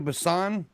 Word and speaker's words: Busan: Train to Busan.